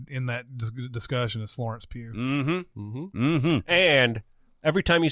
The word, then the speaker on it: Pugh: decade to be in that discussion is Florence Pugh. And every time you say her name, you have to do finger guns. Pew, pew, pew, pew, pew.